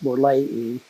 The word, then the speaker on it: borleyi: all, we're processing Copadichromis borleyi. Notice that I pronounced that terminal I as long E. That's the correct Latin pronunciation for Latin endings.